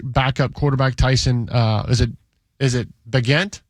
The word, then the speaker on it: Bagent: Is it Bagent? It's Bagent.